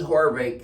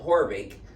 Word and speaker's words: Haavik: spinal research foundation heidi horvick spelled h-a-a-b-i-k it's spelled havoc but she pronounces it horvick and uh she just